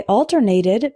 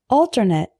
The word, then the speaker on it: alternate: switch back and forth between two things I alternated between hope and despair try to say the difference with me alternate alternate the next one is attribute and attribute